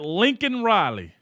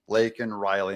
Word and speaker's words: Laken Riley: He said Lincoln Riley. Boy. But I love Margie Taylor Greene's outfit on this. She's wearing a MAGA hat and a T-shirt that says, say her name, Laken Riley.